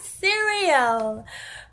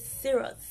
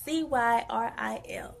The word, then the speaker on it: Cyril: Not cereal, but it's Cyril. C-Y-R-I-L.